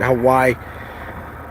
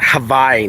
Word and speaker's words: Hawaii: One of these days, I'd love to come and visit Hawaii. I knew that. I learned that you pronounce it Hawaii, not Hawaii. That's the American way.